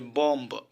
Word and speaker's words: bomb: তো rule number 3, M plus B এর পরপর থাকলে এবং বি এর পরপর কোনো ভাওয়েল না থাকলে বি উচ্চারিত হয় না। এখানে এক্সাম্পল আপনারা দেখতে পাচ্ছেন ভিউয়ার্স, যে বম্ব, BOMB, এখানে উচ্চারিত হওয়ার কথা ছিল বম্ব।